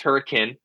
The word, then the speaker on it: Hurricane: It's spelled Hurricane. It's pronounced Hurricane.